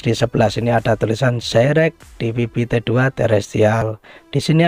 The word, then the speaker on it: Zyrex: Yang membedakan di sini logonya dari Zeyrek atau bacanya Zeyrek.